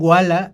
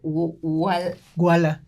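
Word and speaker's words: walla: Entonces, si yo sé que en la película va a haber trenes, caballos, etcétera, o no sé, le llaman wala al ruido que hace la gente platicando.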